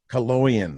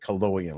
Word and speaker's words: Coloian: Coloian. That's it. Coloian, like colon.